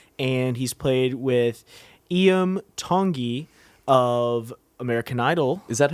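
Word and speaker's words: Iam Tongi: played with Lindsay L and he's played with IEM tongi of American Idol is that how you say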